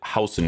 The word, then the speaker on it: Huijsen: So, final verdict on the house card. I'm pretty sure that's how you say his name is House. Every time I watch the Portuguese commentaries, they say it like that, but if I'm wrong, correct me, you know.